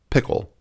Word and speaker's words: Pkl: Well, I think the hottest one, well, maybe not the hottest, but the newest on the landscape is Pickle. Yes, PKL. That's pronounced pickle from Apple.